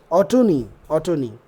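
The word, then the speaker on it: Autonoe: এখানে AU, sorry AU, acha, I'm sorry, Ottoni.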